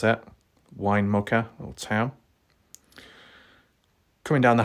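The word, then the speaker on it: Winnemucca: Going all the way down there past Winnamucka, that's how you pronounce it, Winnamucka, little town.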